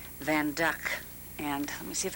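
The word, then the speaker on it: Van Dyck: picture the van duck people will say it's a Van Dyke but it's pronounced van duck and let me see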